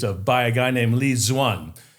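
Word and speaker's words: Lê Duẩn: These are the two errors that he's accused of by a guy named Li Zuan, which is spelled Leduan.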